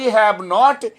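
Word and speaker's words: haven't: অতএব আই হ্যাভ নট আ পেন এটা কখনোই বলবো না, বলবো আই হ্যাভন্ট আ পেন অথবা আইভ নট আ পেন।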